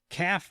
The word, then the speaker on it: CAFE: it is the uh calf requirements. Now, it's spelled cafe. I don't know why they call it calf. Not it's almost like calf with a baby cow.